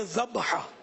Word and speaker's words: ذبح: ذبح لفظ جو ہے نا، ذبح مانے جو جانور ذبح ہوا، اور وہ جو جس کو ہم ذبح بولتے ہیں نا، یہ ذبح نہیں ہے، یہ ذبح اصل تلفظ ہے، ذبح.